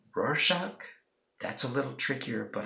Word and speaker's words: Rorschach: me give you some examples can you say Rorschach that's a little trickier but I'm pretty sure